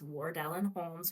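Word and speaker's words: Wardellen Homes: You see it on my name there, so I won't phonetically spell it for everyone, but it's Ward Ellen Holmes with an L.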